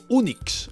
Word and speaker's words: Unix: que lo acabaron llamado unix acabado en cs ahora bien resulta que en inglés unix se pronuncia igual que eunucos y la pra de